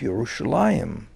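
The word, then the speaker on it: ירושלים: would have used originally people would have made an effort in the greek speaking world to pronounce the word the way the jews pronounced it which is yerushalayim but this has more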